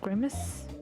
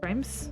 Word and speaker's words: grimace: Cruser glances at the women at the counter and grim grimace. Grims, how do you say that?